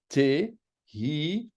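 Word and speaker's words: תהילים: le Tanakh, eh bien, c'est Te-hi-li-m. Te-hilim. Le Tehilim. Toujours prononcer le He. Légèrement, mais quand même.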